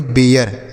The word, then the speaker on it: bare: आगे BARE, तो इसे हम पढ़ेंगे बेयर, BARE बेयर।